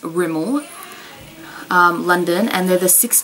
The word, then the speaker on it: Rimmel: um i bought some i say remember but um it's pronounced rimmel um london and they're